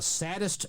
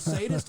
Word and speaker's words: sadist: by Richard Anderson and he goes what are you some kind of a saddest Gerard instead of sadist and why did anyone